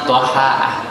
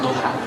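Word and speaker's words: ضحى: salah harkat ya kalau menurut ulama yang benar itu ya dohaah pakai fathah bukan duha karena kalau yang dah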